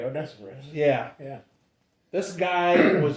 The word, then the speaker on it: Onesiphorus: This Onesiphorus, how do you say that? I think you got it right, Onesiphorus.